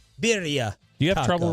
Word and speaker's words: birria: Birria, as Atola was saying, stop pronouncing it. Sounds about white. That's what y'all sound like. Birria.